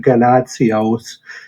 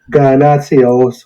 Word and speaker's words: Ganotsionis: first oh you're welcome I guess you can pronounce it ganazzios okay it's a Greek name obviously yep um I'm not going to say it the Greek way but oh guy nazios would be probably the best way to break it down